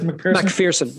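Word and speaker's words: MacPherson: So that takes us to what then about the McPherson strut? Is that the right way to pronounce it? McPherson, actually, yeah.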